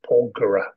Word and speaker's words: Porgera: What's just note the pronunciation is Porgera.